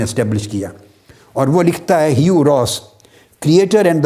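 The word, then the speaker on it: Hugh: और उसका नाम है ह्यू रॉस हयू रॉस यू की स्पेलिंग है चच यू जी हेच मगर पढ़ने में यू है यू रोस यह यूनिवर्सिटी ऑफ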